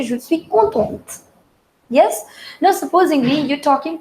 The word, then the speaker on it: contente: And the second one, here I've added an E. So T is not the last letter now. So therefore, we'll pronounce that and the pronunciation becomes je suis contente. Je suis contente. So if you listen well, I am pronouncing the last T.